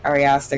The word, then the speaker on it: Ari Aster: I believe it's Ari Aster. Is that how you say his name, Enzo? Yeah. Ari Aster.